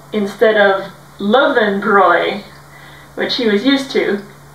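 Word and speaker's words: Löwenbräu: to be drinking lowenbrow and everybody was saying low and brown and he started cracking up and we're like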